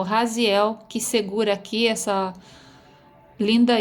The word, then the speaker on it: Raziel: O Raziel se pronuncia Raziel em latim.